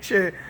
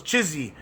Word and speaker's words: Chiesa: Mike Chiesa. I don't know how to pronounce it. Chiesa. I thought it was Chizzy back in the day.